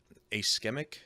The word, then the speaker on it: ischemic: he had was a ischemic stroke, something like that. Ischemic. It starts with an I, but I guess you pronounce it with an A or a sound or something like that.